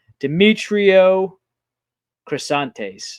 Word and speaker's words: Demetrio Crisantes: Demetrio Crisantes. There you go. That's a way better pronunciation.